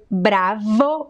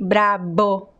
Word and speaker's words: bravo: is just a variation we have the word bravo with the letter v and a lot of people say bra bo with the letter b instead of bravo so we have some